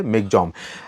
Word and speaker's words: Michaung: में इसको इसके लेकिन अगर स्पेलिंग देखें तो मि चंग है और प्रोनंसिएशन इसका ममा में जो है मिग जम एनीवे आगे बढ़ चुका